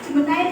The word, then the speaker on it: Gemini: Jemenai itu adalah gemini. Bacanya jemen ada yang pernah belum?